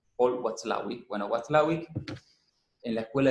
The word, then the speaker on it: Paul Watzlawick: muy difícil de pronunciar, que es Paul Watzlawick, que está con W, tiene una Z en el medio, Paul Watzlawick.